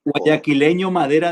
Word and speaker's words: guayaquileño: Guayaquileño Madera de Guerrero. That's how it's said.